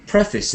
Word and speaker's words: preface: word for me because normally I would think of pre as a kind of unstressed syllable but uh pref yeah preface is the way you say it preface phasis phases or